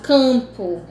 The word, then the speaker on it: campo: Porque, no caso campo, esse M ele não é pronunciado, esse M é para dar nasalidade ao AN.